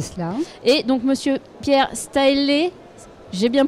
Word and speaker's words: Staehlé: Et donc monsieur Pierre Staëlé. J'ai bien prononcé.